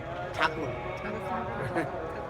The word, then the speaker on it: Tagore: Actually, his surname Thakur. But Western pronunciation saying Tagore.